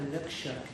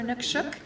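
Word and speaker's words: inukshuk: lot with anukshuks, and there's two different pronunciations for anukshuk. Sometimes it's suk, sometimes it's shuk, so it just kind of depends, I think. But I think anukshuk is actually the right pronunciation.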